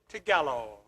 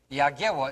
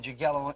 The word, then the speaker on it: Jagiełło: But Jagiełło is the way you pronounce it in Polish, and Jagiełło in the English language.